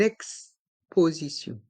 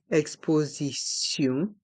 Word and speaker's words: exposition: une est mué une exposition une exposition et dans le mot exposition le son du T change pour le son de s ce exposition et les lettres i